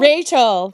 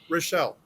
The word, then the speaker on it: Rochelle: Rachel. I'm sorry. Is it Rachel? I'm sorry. No. Rochelle.